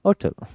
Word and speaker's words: hotel: some countries they never say her, they always say of course hotel, hotel, h is silent, फिर उस जगह n,